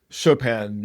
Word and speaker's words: Chopin: Chopin, chop out. What's so dumb about the pun is that it's not even pronouncing his name correctly, Chopin.